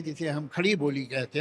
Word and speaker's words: खड़ी बोली: है, दिल्ली तक है, खड़ी बोली। खड़ी बोली उसे कुछ लोग कहते हैं खरी बोली है, मगर मुझे लगता है खड़ी बोली होगा, इसलिए कि इसके जो आ हैं वो बड़े प्रोनाउंस हैं।